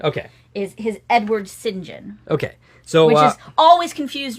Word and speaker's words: St John: way you pronounce St John in British is singen so that's the British pronunciation okay is his Edward singen okay so which always confused me until recent